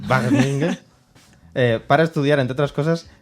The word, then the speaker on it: Wageningen: Sí, bueno, y la pronunciación es a Wageningen. Wageningen.